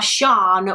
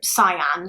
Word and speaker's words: Sian: I believe some people would call her Shan, whereas her family would pronounce her name like Cyan.